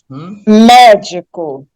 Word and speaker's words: médico: Médico, mesma coisa. A última sílaba é co, a penúltima é di e a antepenúltima mé. Quando eu pronuncio mé, sílaba é a mais forte, portanto tem que ser acentuada. A mesma coisa com século,